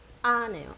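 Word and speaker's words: ཨ: 그 다음에 마지막 자음 아네요. 아 강하고 짧게 발음하는 아.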